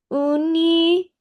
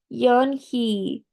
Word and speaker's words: Unhei: "Uni?" the girl asked, scrunching up her face. Uni? Some kids chanted. No, no, and he corrected. It's spelled Unhei. It's pronounced Yunhee.